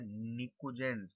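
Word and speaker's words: pnictogens: Group 3 elements are called nicogens. P is silent.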